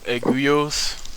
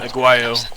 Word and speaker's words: Aguayo: El Hijo de Pero Aguillos. I believe. Aguayo. Aguayo.